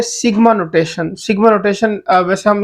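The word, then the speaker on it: sigma: ऑफ the Greek alphabet pronounce as सिग्मा ठीक हो गया इसको सिग्मा से प्रोनाउंस किया जाता है इज यूज टू डिनोट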